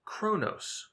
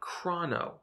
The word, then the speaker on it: chrono: You may hear some developers say chrono, however, we believe this is inaccurate. We're going to use the root origin and use the Greek pronunciation, which would be chrono.